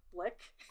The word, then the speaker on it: Blick: big art supply store blick you know how they used to be called rhymes with ick blick and so now in